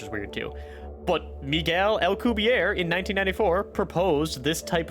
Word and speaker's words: Alcubierre: In the Wikipedia here, it says it uses the Albuquerque. No, that's not it. Alcubierre. Hold on. All right, let's see how Google here says to pronounce this. Alcubierre. Alcubierre. That makes much more sense.